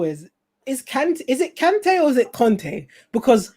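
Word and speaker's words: Kanté: what he said is it's actually both let me just double check something it's both kante and kante in french it's kante in uh where's he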